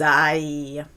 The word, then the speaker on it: aillent: Back to I, but with a silent ENT. Qu'il ou qu'elles aillent.